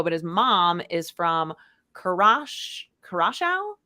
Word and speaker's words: Curaçao: mom is from Curaçao, I believe is how you say it, which is an island in the Southern Caribbean. Curaçao? Curaçao. Oh, maybe. Yeah. Have you heard of it? Curaçao? Yeah. That sounds more right.